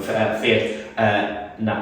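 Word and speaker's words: Feart: So the Fiat, who I keep pronouncing it wrong, Fiat, but spelled F-E-A-R-T.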